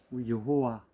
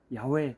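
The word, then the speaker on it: יהוה: 여호와, 야훼 또는 저는 예후라는 발음이 맞다고 보는데 그가 계실 것이다 이런 의미를 갖고 있습니다.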